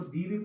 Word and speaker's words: the: ऊ की साउंड में जब ऊ की साउंड आती है तो उसमें आप उसको दी भी प्रोनाउंस कर सकते हो और आप इसको द भी प्रोनाउंस कर सकते हो, आपकी मर्जी है, आप कुछ भी बोल सकते हो।